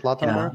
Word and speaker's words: Lautenberg: Lautenberg, is that how you pronounce it? Lautenberg?